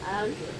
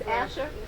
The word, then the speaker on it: Asher: you had re question different pronunciations of Asher Azure no it's AER it's a she's saying aure with you are yeah but that's not what it is Asher Asher as if you're